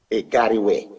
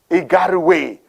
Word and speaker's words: Igarawe: How is it pronounced properly? Igarawe. Igarawe. I would not miss it. Yeah. Igarawe.